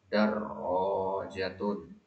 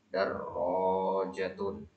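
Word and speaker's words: دراجة: syahinatun ha tipis syahinatun darrojatun tasdid pada rnya Perhatikan ya tasdidnya jangan ketinggalan darjatun kemudian darrojatun wayaratun darrojatun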